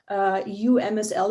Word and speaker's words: UMSL: UMSL is pronounced UMSL, the University of Missouri, St.